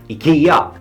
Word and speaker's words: IKEA: can speak Swedish and I can pronounce the Ikea name properly Ikea and I can pronounce